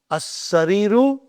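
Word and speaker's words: السرير: And in as-sariru, I only pronounce hamza, and I did not pronounce the lam.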